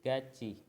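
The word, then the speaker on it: 같이: Jadi tulisannya kayak gini cara bacanya. Ciet. Nah. Terus itu berubah lagi menjadi gaci.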